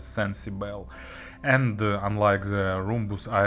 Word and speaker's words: Cencibel: yet another tripovine model I suppose it should be pronounced as sensible and unlike the rhombus